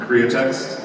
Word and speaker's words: Createx: Createx, C-R-E-A-T-E-X. Like create one with an accent.